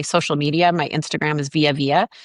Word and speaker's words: Vija: So my name is spelled really weird. It's VIJA, which is, I know, weird, but it's pronounced Via.